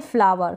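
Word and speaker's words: flower: फ्लावर क्या पढ़ेंगे फ्लावर last में ये जो डब्लू ई आर है ना ये वर पढ़ा जा रहा है जैसे कि यहां पर डी ई आर को डर पढ़ा जा रहा है इस तरीके से आप पढ़ेंगे ये जब भी लास्ट में ई आर करके आएगा इस ई को हम अ पढ़ेंगे ठीक है फ्लावर फ्लावर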